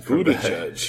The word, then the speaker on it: Buttigieg: Mayor Pete Buttigieg out of Indiana. Nice pronunciation, Buttigieg.